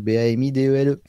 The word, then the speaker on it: Bamidele: Steven Bamidele, comme ça se prononce, Bamidele.